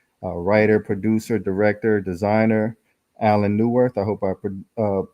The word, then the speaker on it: Allan Neuwirth: very special guest a writer producer director designer Alan newworth I hope I uh pronounced your name correctly you sure did absolutely